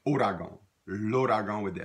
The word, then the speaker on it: ouragan: The word you see after that is the word, looks like the word ouragan, and it may be pronounced like that. More often we pronounce it ouragan.